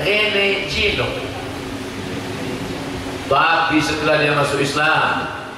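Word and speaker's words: René Guénon: masuk Islam namanya siapa tulisannya r e n e g u e n o n Rene juenon caraembacanya Rene jino tapi setelah dia masuk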